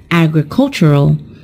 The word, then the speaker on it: agricultural: on the first syllable when we turn it into an adjective the stressed syllable is also changed and it is pronounced as agricultural so we've just talked